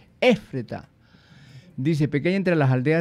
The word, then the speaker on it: Éfrata: Éfrata, pequeña entre las Efrata. Aldeas. ¿Ah? Éfrata. No, tiene acento en la E. Éfrata.